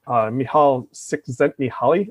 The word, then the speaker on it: Csikszentmihalyi: And I always go back to the book Flow, never going to say his name right, by Mihaly Csikszentmihalyi, I believe is how you say it, the psychologist.